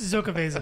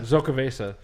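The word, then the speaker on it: Xocoveza: It's Zocaveza. Zocaveza. Yeah, the X is pronounced like a Z.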